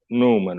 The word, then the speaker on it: Nouman: English language doesn't have it, so the version of it is Numan, which is easier.